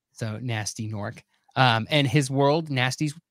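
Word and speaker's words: Gnorc: an orc it's yeah that's right so nasty norc um and his world nasty's world is just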